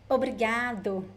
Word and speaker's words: obrigado: And one interesting thing about pronunciation is that when we speak fast, most of the times we drop the first O sound. So we say Obrigado, obrigada, obrigado, obrigada. This is very, very common. Pay attention to Brazilians speaking. You see that they drop the O pronunciation.